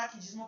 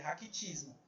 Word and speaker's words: raquitismo: A gente fala raquidismo para poder lembrar, mas é raquitismo, tá bom?